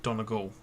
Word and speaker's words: Donegal: that's about it uh Frank Abbott what about Donegal Donegal Donegal Donegal I'm hoping I pronounced that right Donegal you do Donegal absolutely we'll definitely do done